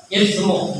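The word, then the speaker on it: إثم: Ithmu bukan sin ya, pakai ta.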